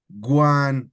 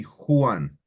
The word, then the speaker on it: Juan: But if you go to Spanish, the J has a H sound. Like you wouldn't call me Juan or Juan, you would call me Juan, right? The J is spelled H, right?